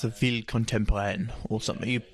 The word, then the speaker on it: ville contemporaine: It's a ville contemporaine or something. Why don't you pronounce it properly? Une ville contemporaine.